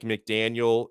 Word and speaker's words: McDaniel: i'll take harbaugh and mcdaniel's uh and by the way it's mcdaniel not mcdaniels i'm not i'm not calling that estefan i'm just saying that to everybody i even say it wrong sometimes right i mean the